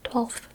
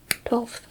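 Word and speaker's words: twelfth: 12th. 12th. 12th. 12th. A lot of people just say 12th. They kind of skip the F.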